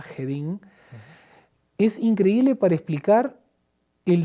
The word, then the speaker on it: Jedin: Trento del sacerdote alemán yedin se pronuncia se escribe con j jedin es increíble para explicar